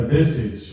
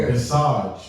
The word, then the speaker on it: visage: Their visage is Their visage or visage, either way you want to pronounce it.